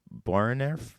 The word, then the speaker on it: Boerenerf: But for this, and how do you pronounce the beer? Boerenerf is how I would. Boerenerf.